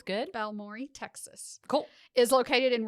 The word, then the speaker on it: Balmorhea: to a small town balmi Texas sorry if that's wrong I am sorry I heard others pronounce it this way so sounds good balmore Texas cool is located